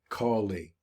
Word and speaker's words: Kali: a picture of Kali that's spelled k-a-l-i collie kind of like this